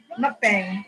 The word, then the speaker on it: mukbang: Now you got me all fucked up because you said it wrong. It's a mukbang.